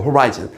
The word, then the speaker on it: horizon: 즉 이제 미친거져이 문장 사실 every man 모든 사람은요 has a horiz 발음 조심하시고 호리젠 아니고 horizon 수평선 자기 자신의 수평선을 가지고 있어요.